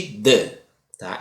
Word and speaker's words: the: e velho th e pronuncia-se normalmente de da existem outras formas de pronunciar mas eu realmente Gostaria